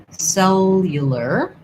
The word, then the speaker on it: cellular: Okay, we have a question about the word cellular. This is hard. Cellular. cellular. What's hard here, I think, is having the multiple L's and the R's together.